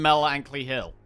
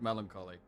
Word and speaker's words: melancholy: Uh, on Mel Ankley Hill. No, I am I am fully aware it's pronounced melancholy.